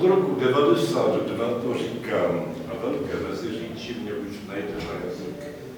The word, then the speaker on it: Velké Meziříčí: a v tomto roce jsem ještě vyslovoval Melke Medříčí, protože jsem nevěděl, co je Medříč. V roce 1991 jsem se to dozvěděl a od roku 1992 to říkám a Velké Meziříčí mě už najde na jazyk.